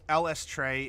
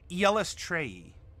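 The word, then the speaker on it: Eilistraee: If it helps, LS Trey is commonly... I'll practice the five syllable. I'm fine with that. Yellis Trey. Yellis Trey. Yellis Trey. Yellis Trey. Or LS Trey.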